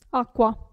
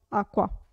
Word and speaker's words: acqua: cuscino e l'ultima regola cu si legge sempre q acqua acqua e attenzione ve l'ho